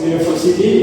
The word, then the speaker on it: university: The second word is university. It contains five syllables. You need vert. The primary stress is placed on the third syllable for which contain the vowel.